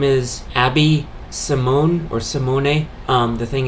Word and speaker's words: Simone: her name is Abby Simone or Simone um the thing is in Italian s i m o n e which is how she spells her last name is pronounced Simone which is a male